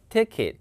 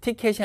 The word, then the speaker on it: ticket: 그러니까 I've got ticket. 티켓이 아니라 ticket. 이 KT로 끝나는 발음이 이거든요.